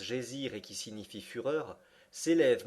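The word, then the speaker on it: Geysir: une hauteur de dixoises le geyser mot que les Islandais prononcent gésir et qui signifie fureur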